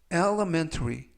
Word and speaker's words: Elementary: 뜻이 되겠습니다 이번 표현은 Elementary Elementary Elementary라고 발음하시면 되겠고요 이때 강세는 가운데 부분에 있는 알파벳 2의 강세가 있습니다 그래서 element 라고 발음하시면